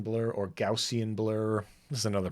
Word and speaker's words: Gaussian: do we need to use I like the Gaussian blur or Gaussian blur this is another pronunciation problem but because it's GPU accelerated I